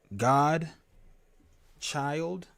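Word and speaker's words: Gdchyld: h y l d it is pronounced god child like god child that's how i pronounce it but i spell it a little differently no oh no i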